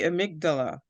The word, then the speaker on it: amygdala: And thank you to the person who says it's the amygdala.